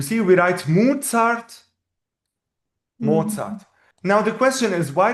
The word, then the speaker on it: Mozart: The reason is that this letter in German it's called Z. So it is a combination of T and S, Z.